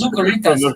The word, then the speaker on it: Zucaritas: No, it's Zucaritas.